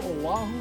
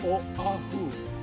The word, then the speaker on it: Oahu: It sounds like a W, Oahu, but it's really Oahu. If you say it fast, it sounds like a W, Oahu.